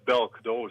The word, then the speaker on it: Boelk: Yeah, it's Belk. Silent. Bel.